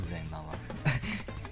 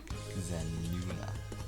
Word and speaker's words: Zenua: Her names would be Zenana. No, not Zenala. It'd just be Zenua. Yeah, Zenua. It's I is silent, so Zenua.